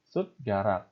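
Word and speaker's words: 숟가락: Dibacanya apa? Bukan sude, melainkan sud, rak. Ya. Sud, garak.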